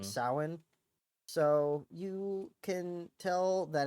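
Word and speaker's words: Samhain: spelled s m h a i n it's pronounced sa so you can tell that it was not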